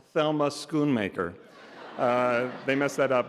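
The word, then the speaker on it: Thelma Schoonmaker: They asked all the nominees how to pronounce my name and I said my name is clearly pronounced Thelma Skoon Maker.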